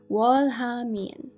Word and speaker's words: 월하미인: 월하미인. Yes, making sure I got the pronunciation right.